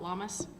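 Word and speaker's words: Lughnasadh: so next we have llamas lunaa depending on who you are and who you if You' like to pronounce it or not all those fun Celtic words are kind of not necessarily written the way they're pronounced so a lot of us call it llamas um it's a reflection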